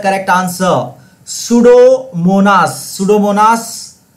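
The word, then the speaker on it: Pseudomonas: the correct answer सूडोमोनास सूडोमोनास piece silent है याद रखिएगा यह सूडोमोनास द करेक्ट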